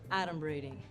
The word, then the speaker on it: adumbrating: Okay, first of all, it's pronounced adumbrating. And it means pretending, foreshadowing. Guess who's buying dinner tonight, sugar?